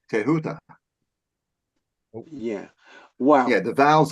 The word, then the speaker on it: Thoth: Thoth or Toth or whatever, the correct pronunciation is Tehuta.